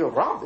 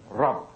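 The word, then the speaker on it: رب: Actually, Rab is really one syllable, isn't it? Rab. When you say the Rabbun, it's two syllables. When you pronounce the sign at the end of the letter, but it's actually Rab, one syllable letter.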